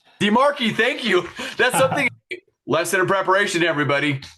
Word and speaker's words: DiMarchi: It's DiMarchi. DiMarchi, thank you.